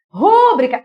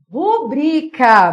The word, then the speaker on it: rubrica: ditongo é Obrigatoriamente acentuada rúbrica errado não é rúbrica a palavra é rubrica vamos lá rubria assentou professora rubrica eu tenho uma paroxítona terminada em a assentou Claro que não se a sílaba tônica fosse o ru seria proparoxítona a sílaba tônica antepenúltima toda proparoxítona tem acento mas não é rúbrica meus amores é rubrica Lembrando que a sílaba